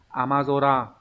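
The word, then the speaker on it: 雨空: Ví dụ ghép vào ấy, thông thường những cái từ ghép âm cư với nhau sẽ đọc là zora. Ví dụ các bạn có từ amazora là bầu trời đổ mưa.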